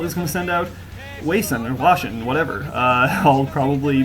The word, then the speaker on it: Hwasin: I feel like when I started listening to StarCraft, people would always call him Hwasin, and that was maybe just class art. But at any rate, Hwasin I think is how it's supposed to be pronounced.